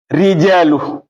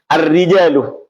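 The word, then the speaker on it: الرِّجَالُ: Lam ketemu ro. Lam al-rijalu. Nah, ya, ar-rijalu. Ini idghamnya idgham tam. Lamnya idgham tam.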